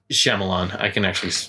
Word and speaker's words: Shyamalan: It's Shyamalan. I can actually pronounce his last name, but yeah, so that's look like Signs.